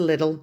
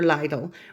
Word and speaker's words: Lidl: get an opportunity to go to little or lidl whichever way you decide to pronounce it that's fine if you